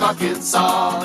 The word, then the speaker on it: Arkansas: also in little rock arkansas it ends with an ass but don't say it boy all